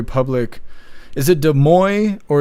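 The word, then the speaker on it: Des Moines: Is it De Moy or is it De Moines? Because these people say De Moines. They pronounce the N. But when we were doing the convoy and all that stuff, we were saying De Mo.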